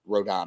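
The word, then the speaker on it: Rodón: the first round was with rondone on the mound or rodon I should say R yeah people people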